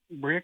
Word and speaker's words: Berea: the call Aaron in Berea Kentucky am I saying it right Aon yeah Bria Kentucky hey what's on your